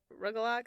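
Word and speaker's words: rugelach: It's spelled and pronounced like rugalak. It is rugalak. Sorry, I But said every rugalak. every time I've heard it, it's rugala. Like they don't necessarily pronounce the ch.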